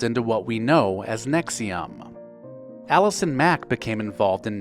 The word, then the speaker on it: NXIVM: this time selling vitamins NX I VM pronounced Nexium started out as executive success program or ESP for short it attracted over 16,000 members but eventually devolved into what we know as Nexium Allison Mack became involved